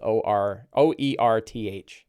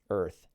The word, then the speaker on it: Oerth: Yeah, he's not your problem says Earth, Oerth, Earth. I suppose it's pronounced Earth, which would make sense.